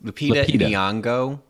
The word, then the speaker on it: Lupita Nyong'o: Lupita Nyong'o.